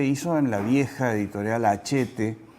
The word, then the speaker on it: Hachette: Fue tal la significación que esto se hizo en la vieja editorial Hachette, o Hachette, como algunos la pronuncian, que era una editorial importante.